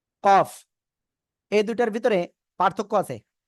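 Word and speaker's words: كاف: এ অক্ষরের নাম কি কফ এই দুইটার ভিতরে পার্থক্য আছে কি পার্থক্য আমি একটু বলি খেয়াল করতে হবে এটা হলো জিহ্বার গোড়া থেকে একটু আগে বাড়িয়া উচ্চারণ করব কি চিকুন আওয়াজে কাফ ঠিক আছে চার আলিফ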